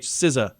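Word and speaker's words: SZA: IMA Roi eth most streamed Spotify artist it's pronounced Siz Siz SI s i z u sizza okay okay um and cladius something like that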